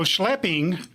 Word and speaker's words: schlepping: So is our pronunciation right? Let me see. Is it schlepping? I don't know. How do you pronounce it? SCHLEP. Yeah, SCHLEPPING. Oh, all right.